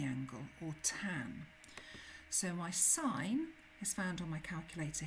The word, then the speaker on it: sin: we call this the sine of an angle, and it's shortened to SIN. We never say sin, we always say sine. So even though it's written as sin, I would pronounce that as sine.